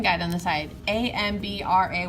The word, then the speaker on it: hambre: guide on the side amb ra y I'm buddy you don't pronounce the H in Spanish single a MIDI bingo